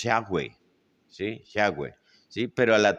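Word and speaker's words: Yahweh: entonces por ejemplo ellos la pronunciación de ellos es yahwe Sí yahwe sí pero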